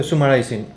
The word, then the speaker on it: summarizing: fine it's great so summarizing is not that's my summarizing summarizing that's it so summarizing the the emphasis is on the first syllable so it's so summarizing